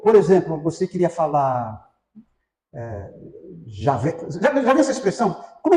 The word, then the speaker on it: Javé: Por isso que eles falam Jeová. Eu prefiro Javé. Eu uso sempre a expressão Javé. E parece que a maioria dos entendidos falam isso, Yavé.